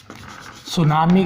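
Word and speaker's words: tsunami: यह सब जगह पर सुनामी आ सकता है सुनामी का डिप्रेशन बढ़ने से पहले इसकी स्पेलिंग पर गौर करेंगे इसमें कि आपका साइलेंट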